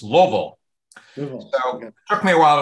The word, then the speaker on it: Louisville: I didn't note that it is Louisville not Lewisville and usually if you've lived there a long time it's two syllables it's Louisville it took me a